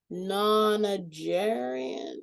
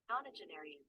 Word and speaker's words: nonagenarian: How do you pronounce that word? Nonagerian?